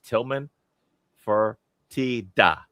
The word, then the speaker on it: Tilman Fertitta: And less well known is Tilman Fertitta. I said it correctly.